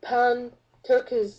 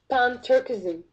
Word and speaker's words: Pan-Turkism: So there's another agenda called Pan-Turkish, I guess I'm pronouncing it incorrectly, Pan-Turkism, okay, which aims to unite basically all the